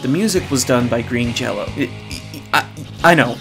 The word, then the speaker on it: Green Jello: music was done by Green Jello. I know, it looks like it's pronounced Green Jelly, but I promise it's pronounced Jello.